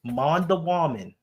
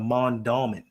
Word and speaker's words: Mondawmin: Okay, but how do you get Mondawamin out of Mondawmin? When I moved up here, I didn't know how to pronounce it. And so I just called it Mondawamin.